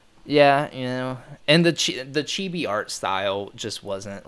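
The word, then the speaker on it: ちび: Chibi sounds like off. And I'm studying Japanese, so it's pronounced chibi.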